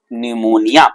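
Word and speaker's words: pneumonia: Pleuro, दूसरे पी से होता है न्यूमोनिया, पी साइलेंट है यहाँ पे भाई, तो प्लूरो न्यूमोनिया, एल से हो जाएगा लाइक, ओ से हो जाएगा organism, means pleuro न्यूमोनिया like organism.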